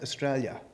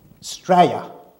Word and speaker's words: Australia: Scotty slide to Australia in Australia is not pronounced Australia we call it straya str aya that's how you pronounce it straya in a you know